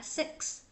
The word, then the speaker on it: six: Đó, luyện dần rồi sau này quen nó cái âm nó bật ra rất là tự nhiên, mà sẽ đọc là six, six, six.